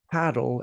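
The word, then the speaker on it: padel: start I think with what is paddle and paddle is how we pronounce it in Spanish um as well um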